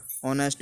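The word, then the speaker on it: honest: ऑनेस्ट means ईमानदार, देखो यहाँ भी एच नहीं बोला।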